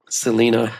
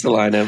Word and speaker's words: Salina: Here in Salina, Texas. Selena, as some people call it. No. It's Salina. It is Salina, but some people call it Selena.